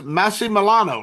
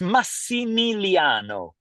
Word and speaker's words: Massimiliano: so it's Massie Milano right that's the way you pronounce it so it's massimiliano m MIM Milano yes that's yeah yeah that's it that's it you're right okay well